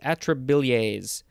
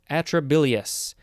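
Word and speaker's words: atrabilious: adp and inorganic phosphate next we have atrolase atrobillae atrobilliers atrobilius atrobilius i figured it out a t r a b i l i o u s atrobilius this is an adjective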